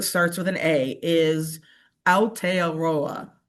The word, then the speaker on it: Aotearoa: free to make fun of me if I mispronounce this terribly, but the word that starts with an A is Aotearoa. Aotearoa.